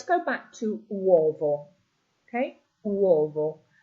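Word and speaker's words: uovo: Okay, wvo. So here your stress is on the first o wo.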